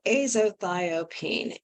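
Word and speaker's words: azathioprine: And I'm going to spell it. It's called azothiopine, and it's AZATHIOPINE.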